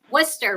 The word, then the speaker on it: Worcester: College of the Holy Cross in oh W Worcester right am I saying that right Worcester Massachusetts yeah I almost said it wrong with